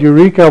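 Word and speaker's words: Eureqa: we released the software it's called eureka with a q misspelled with the q so you can find it easily q for equation it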